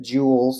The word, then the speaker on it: joules: measured in joules and I know that's a weird looking word but joules is how you say it NJ is the